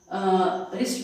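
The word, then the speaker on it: wrist: सो इसमें W silent रहता है, हम इसको रिस्ट पर रिस्ट बोलते हैं सिंपली, बट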